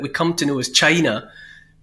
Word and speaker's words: Qin: usually quu i n and it's pronounced chin chin shiwang and he